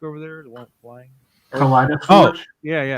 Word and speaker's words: Kaleidoscorch: How's that pronounced? Which one? The one with flashback over there, the one flying. Kaleidoscorch? Oh, yeah. Kaleidoscorch, yeah.